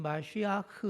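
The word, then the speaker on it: מָשִׁיחַ: 2 4 쉬어야 의 정확한 히브리어 발음은 마슈 야크 라고 합니다 예수님이 우리의 맛이 아흐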